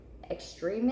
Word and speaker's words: extreme: Extreme is E consonant E pattern, and the second syllable has the accented E.